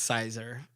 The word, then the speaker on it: Caesar: That's not how you pronounce it. That's how I pronounce it. I think it's funny. I think it's Caesar. It's Sizer.